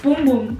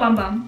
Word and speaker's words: Bum Bum: It's Boom Boom, not Bum Bum. I've been pronouncing it wrong my whole life.